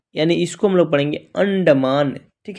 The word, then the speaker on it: अंडमान: अन मान यानी यानी इसको हम लोग पढ़ेंगे अंडमान।